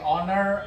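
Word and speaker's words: honour: এখন আমরা কয়েকটা এক্সেপশনস দেখি এন এর জন্য, যেমন হচ্ছে অনার, আর, ইয়ার। এরা হচ্ছে কনসোনেন্ট দিয়ে শুরু হয়, কিন্তু কনসোনেন্ট দিয়ে শুরু হলে এদের উচ্চারণগুলো হয় ভাওয়েলের মতো, এই কারণে এদের আগে এন ইউজ হয়। এখানে এইচটা হিডেন থাকতেছে।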